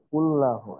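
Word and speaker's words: كُلَّهُ: কুল্লাহু, কারণ এখানে আল্লাহ লাম মোটা হওয়া শুধুমাত্র আল্লাহ শব্দের ভিতর এটা সীমাবদ্ধ, অন্য কোনো জি ক্ষেত্রে জি, লাম মোটা হবে না।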